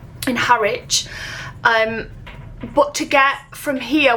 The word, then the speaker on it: Harwich: This drops us off in, how do you pronounce it? Harwich. In Harwich.